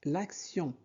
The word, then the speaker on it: l'action: T-I-O-N se prononce sion. Donc l'action.